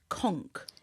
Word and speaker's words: conch: I've never tried it it's spelled conch but it's pronounced conk yeah yeah but I